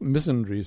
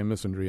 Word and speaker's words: misandry: about the issue uh they they would say ironic missry missandry I kind of like that better even though the British pronounce all kinds of things in Peculiar ways uh I think missandry sounds a little bit better you can say missandry